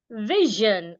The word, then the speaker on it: vision: before s i n if I have a vowel letter or letter r before s i o n s i o n will sound Jen let me check that